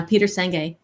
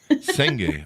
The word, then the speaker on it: Senge: And I've been pronouncing his name wrong all these years, evidently, too. Yeah, Peter Senge. Senge.